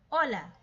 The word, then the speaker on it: hola: First, we have hola, silent H.